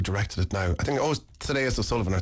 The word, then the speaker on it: Thaddeus: I think Thaddeus O'Sullivan, or Thaddeus O'Sullivan. How do you pronounce his name? Thaddeus, yeah.